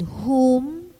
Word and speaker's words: whom: spelled w-h-o-s-e and whom spelled w-h-o-m and their compounds are exceptional for in this words the w is silent in their pronunciation let's practice the following